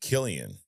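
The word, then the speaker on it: Cillian: Um and then he also says I was saying Murphy it's pronounced Killian. Oh, because we spell it with a C in Ireland. Oh, Killian.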